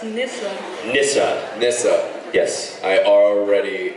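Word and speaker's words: Nyssa: It's Nissa.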